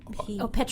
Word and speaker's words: Petron: But hers is spelled with the P-E-T. Petron.